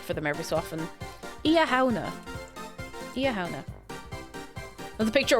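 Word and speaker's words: Samhain: And basically, imagine reading it phonetically. It's nothing like that. That's exactly how it works. That's exactly it. It's not pronounced Sam Hain!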